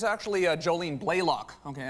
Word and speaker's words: Blalock: It's actually Jolene Blaylock. Okay, I said the Canadian pronunciation Blalock, but it's Blaylock.